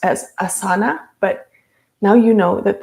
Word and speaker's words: asana: yoga practice are called asanas sometimes it's mispronounced as asana but now you know that the correct way to pronounce this word is asana with the emphasis on the first syllable so during the asana